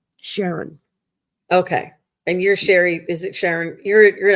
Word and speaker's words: Shari: it I'm just like just think Sherry like Mary it's pronounced the same way it's just a couple